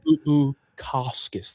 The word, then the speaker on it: Bukauskas: Bukauskas? Is that how you say it? Bukauskas. There's an S before the K.